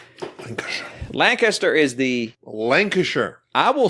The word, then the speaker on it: Lancashire: I want to talk about Brass, Birmingham, and Lancashire.